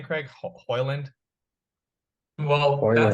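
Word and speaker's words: Højlund: and it was like, I think it was almost like a silent D, and when you actually pronounce it.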